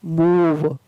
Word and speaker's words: move: ई है, लेकिन फिर भी यहाँ पर उसका उच्चारण है वो ओ ना होकर के बड़ा ऊ हो रहा है। मूव, एम का माँ, ओ का बड़ा ऊ और वी का वह, मूव, PROVE, प्रूव।